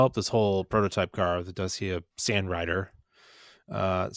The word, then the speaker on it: Dacia: And so just to go back, Dacia is actually pronounced Dacia.